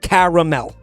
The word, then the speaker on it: caramel: Sorry, I pronounced the A because there's an A in that word. If you have a problem with that, I take it up with the English language. There's a fucking A in there. There's no such thing as a silent A in this language. Therefore, it's pronounced caramel.